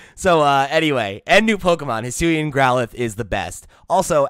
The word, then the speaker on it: Hisuian: it's Hisuian.